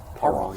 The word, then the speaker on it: Parent: And then Pierson Parent? Is that how you say it? Parent, yeah. A little French in it.